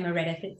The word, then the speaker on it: Meredith: my name um I love that you say meredi it's it's it's proper pronunciation in in Welsh which I thought no